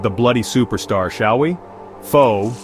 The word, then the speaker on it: pho: Pho, pronounced pho, not pho you donkey, is Vietnam's comfort, identity, and pride all rolled into one steaming bowl.